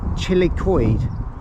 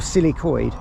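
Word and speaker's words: Cil-y-coed: Is it Chilicoid or Silicoid? Silicoid. Silicoid. I thought it was chilly, like, because it's quite chilly here. Because I know what you Welsh people, how you pronounce things. Silicoid. That's how you say it.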